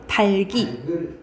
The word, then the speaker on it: 닭이: 그다음에 삼일 삶이고 삼네 닭이 있잖아요 닭을 할 때 달기 달기 이렇게 발음해야 돼요 달이라 하지 않았어요 달글 달기 이때는 그냥